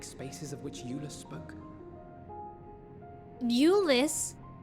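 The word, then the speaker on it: Aulus: of which Ulus spoke Ulus that's how his name is pronounced finished your war council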